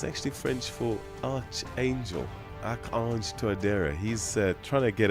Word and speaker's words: Archange: President Tuadera, Akang, if you want to know how to pronounce his first name, and it's actually French for Archangel, Akang Toadera.